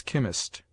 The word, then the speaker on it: chemist: e as chitta cherro CH is sounded like K in words derived from the Greek as chemist scheme collar a rch is